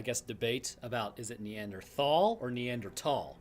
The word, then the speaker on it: Neanderthal: Neanderthal or neander tall the Germans pronounce t h at least from what I've come to understand as a t sound not a th sound so it actually is is neander thall but nobody's going to